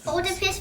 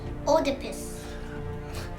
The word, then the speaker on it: Oedipus: Oedipus versus Sphinx.